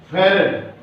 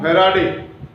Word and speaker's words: farad: Farad. Not farad. People speak farad. Farad. Farad. It is farad. Exact pronunciation is farad.